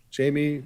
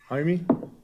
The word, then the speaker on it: Jaime: Federico Bernabe Barajas, Jamie, Jaime, I said it wrong.